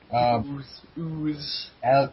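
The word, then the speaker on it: Elwes: What the hell his last name is pronounced? Ooze.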